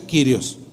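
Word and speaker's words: κύριος: Sun y kirios curios según eso se pronuncia kirios dos palabras Sun y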